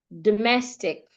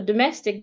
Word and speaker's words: domestic: Domestic. For domestic, the schwa is on the first syllable. Domestic. Phonetic.